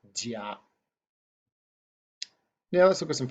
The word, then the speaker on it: 家: So the Chinese character for family, it's pronounced jia, J-I-A, first tone, jia.